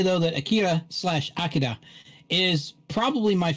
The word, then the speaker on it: Akira: to steal your thunder pronounce it correctly it's it's it's uh akira oh akira oh sorry hey i still see akira i just say akilo when i talk about the movie here's another show about